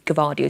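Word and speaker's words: Gvardiol: good Defender so I think it's exciting times givardio Alice the man knows everything about pronunciations and he tells us it's cavadio so we'll have the G in there and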